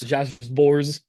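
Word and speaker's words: Sborz: Josh Bors.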